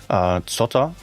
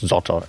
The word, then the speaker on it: Zotter: Zotter. Maybe you would pronounce it Zotter in English.